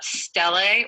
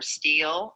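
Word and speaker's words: stele: what we call an anthropomorphic uh stellae or steel or steely uh how you pronounce it uh is just kind of i think might be even regional to where you live in the world uh i call it a steli so this is a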